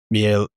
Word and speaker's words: Miele: Um for example, the home we're building in Westwood, the client has a um Miele I can never pronounce it.